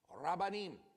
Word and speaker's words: rabbanim: So that is pronounced meshelleem, rabbanim, the parables of the rabbis.